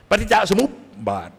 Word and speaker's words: ปฏิจจสมุปบาท: ศึกษา กัน ปั ปฏิจจสมุปบาท อ่าน ให้ ถูก นะ ครับ ไม่ ใช่ อ่าน ว่า ปฏิจจสมุปบาท นะ อย่า ไป อ่าน นะ เชย นะ ขาย ที่ หน้า เขา เพราะ ปปา ตัว นี้ เป็น ตัว สะกด ปฏิจจสมุปบาท นะ ครับ จำ ให้ ดี นะ ครับ อ่าน ทำ ปาก มุบ ๆ อ่ะ ทำ เป็น มั้ย มุบ มุบ มุบ ปฏิจจะ สมุบ บาท เป็น คำ ที่ หลวง